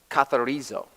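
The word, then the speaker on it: καθαρίζω: You pronounce it katharizo.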